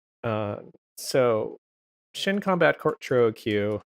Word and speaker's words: Choro Q: combat Court Trio Q which I'll pronounce this for Q a million times because for 10 years of my life I thought it was squirrel queue and then I realized that Japanese doesn't work like that thank you Cannon I'm